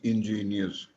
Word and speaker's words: ingenious: There is a word which is pronounced as ingenious, Ingenious.